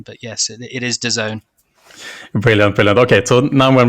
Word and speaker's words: DAZN: a creative agency who came up with a pronunciation but yes it is de zone brilliant okay so now when we have that